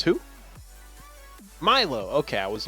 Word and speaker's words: MY10H: His name is spelled MY10H. I would not read that as Milo. I would read that as My10.